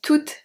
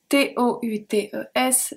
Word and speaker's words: toutes: And then we have toutes, T-O-U-T-E-S, feminine plural. So the masculine are pronounced exactly the same.